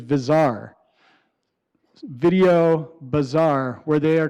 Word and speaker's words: Bazaar: a company called Bazaar if you don't know how to pronounce it the correct pronunciation is bizarre video bazaar where they